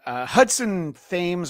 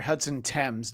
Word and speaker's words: Hudson Thames: And Hudson Thames or Hudson Thames, depending on which side of the pond you pronounce his name.